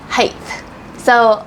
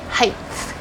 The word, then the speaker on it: height: height and height height height so lots of language Learners want to say Heights but there's actually no th at the end of the word so